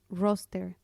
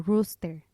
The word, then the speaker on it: roster: que me costó mucho trabajo al inicio fue roster que significa lista y acá se usa mucho para referirse al horario que te mandan con la asignación de turnos y yo la pronunciada como rooster que es gallo entonces esto fue horrible porque